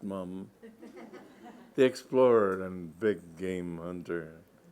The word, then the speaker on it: Mapledurham: a whisper decide was Lester Mapledurham pronounced mom they explored and big-game